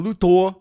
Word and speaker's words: Luthor: It's actually pronounced Mr. Luthor.